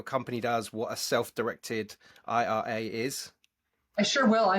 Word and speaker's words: IRA: uh you direct Ira Ira I've now learned is the correct way to say that even though I have